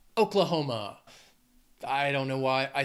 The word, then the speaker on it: Oklahoma: O's going with Oklahoma this state has four syllables and the stress is on that third syllable Oklahoma you can hear it emphasiz that hom Oklahoma I don't know why